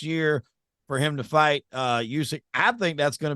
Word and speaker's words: Usyk: Tyson was lined up to do that fight with, how you pronounce that guy's name? Usyk?